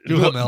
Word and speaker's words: Duhamel: Yeah, Yeah, Duhamel.